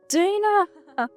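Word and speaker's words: Daena: God, it's pronounced Dana.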